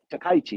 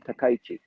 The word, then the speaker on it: Takaichi: of the faction he chose uh sanai takaichi takaichi excuse me i always mispronounced her last name takaichi and although she lost she became the the